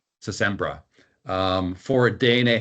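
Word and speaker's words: Sintra: So I got basically a vacation pass from my wife to visit this city called Sempra. How is that pronounced? Phil, how do you pronounce it? It's Sembra. Sembra.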